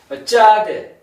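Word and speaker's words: צדי: 쌍디귿 발음해서 요건 이제 경험 어 경험으로 발음해 주고 경험으로 발음해 주면 되고 짜대 짜대 그래서 s를 강하게 발음해라 하는 요거는 어 영어의 ts로 발음해 주면 되겠습니다.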